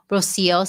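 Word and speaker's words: Rocío: So first, you did pronounce my name correctly. It's Rocio.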